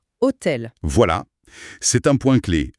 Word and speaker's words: hôtel: Et il insiste sur le H toujours mué. Il donne l'exemple de hôtel prononcé hôtel.